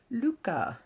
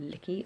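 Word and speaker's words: lykke: the little book of Licky, Luca, as it's pronounced on the back, which means happiness. It says on the back how to pronounce it, Luca, so not Licky at all.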